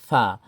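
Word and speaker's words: فاء: এরপরে কি আছে ফা ফাটা উচ্চারণ কি হবে ফা দুই ঠোট থেকে উচ্চারণ হয় ফা হালকা বাতাস বের হবে ফা ফা ফা ফা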